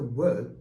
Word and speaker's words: ㅝ: Try the word tower. Great. So now lose the first syllable, ta, and just pronounce wo. Lastly, lose the R part. So just wo, wo, wo.